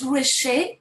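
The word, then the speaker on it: Roueché: This short break, I would like to welcome Professor Charlotte Rouechet. I hope that I'm pronouncing correctly the accent at the end of your.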